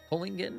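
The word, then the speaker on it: Kohlingen: Kolingen, I think is how you say it.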